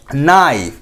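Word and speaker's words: knife: তারপর দেখুন অনেক ক্ষেত্রে সাইলেন্ট লেটার্স থাকে, যেমন নাইফ। নাইফ শব্দের মধ্যে কে সাইলেন্ট রয়েছে, উজ্জ্বল রয়েছে, কে এর কোনো প্রনাউন্স এখানে হচ্ছে না, আটার হচ্ছে না।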